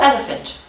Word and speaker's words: elephant: Elephant sur la première syllabe.